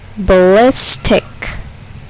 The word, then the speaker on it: ballistic: Ballistic. Ballistic. Here, the second syllable is accented. Ballistic.